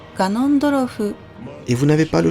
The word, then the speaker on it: Ganondorf: Voici comment l'écrire et le prononcer, Ganon, ou bien dans sa version humanoïde, comme ils disent, Ganondorf.